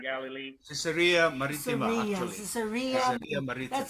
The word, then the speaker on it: Caesarea: Caesarea. Caesarea Maritima. That's how you pronounce it.